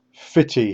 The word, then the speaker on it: Footdee: If you walk south down the beach, you will come to Footdee, pronounced Fitty here, a small fishing village near the mouth of Aberdeen Harbour.